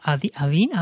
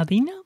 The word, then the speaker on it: Athena: Oye, para las personas que no lo conozcan, esas 3 ramas, o sea, ¿Adina? Athena. Se escribe como Athena, A-T-H-I-N-A.